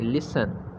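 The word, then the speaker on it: listen: knock, knock, सुनना, लिसन, टी को यहाँ साइलेंट रखेंगे, लिसन, ताला लगाना, लॉक, लॉक,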